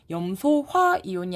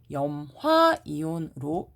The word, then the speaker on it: 염화이온: 그러면 소를 없애고 화이온이라고 했으니까 얘는 염소화이온이 아니라 염화이온으로 읽습니다.